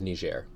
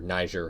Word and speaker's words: Niger: for that video the country of Niger they're Niger however you prefer to pronounce it you've probably heard Niger